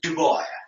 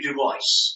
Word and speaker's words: Du Bois: point out here that many pronounce D's name as Duo it's actually Duo and you know and and Duo himself pronounced his name that way and we have proofs